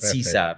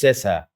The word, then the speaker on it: Sesa: سيسا, yeah, I'm pronouncing right, not Sisa, because they all the time will call Sisa. It's not Sisa, it's Sesa.